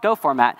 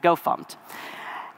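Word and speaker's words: gofmt: It's called GoFormat, or depending on how you pronounce it, GoFumpt.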